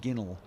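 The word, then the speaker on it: ginnel: golf in south yorkshire it's pronounced with a soft g sound as in the word general and spelt general interesting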